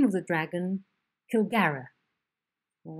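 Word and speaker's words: Kilgharrah: and the dragon, the great dragon, and you pronounce the name of the dragon Kilgara.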